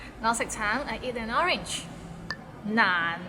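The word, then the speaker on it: 難: Nan, it's not nan. It means difficult and it's difficult to pronounce. So it start with n and ends with another nan and is in a low tone.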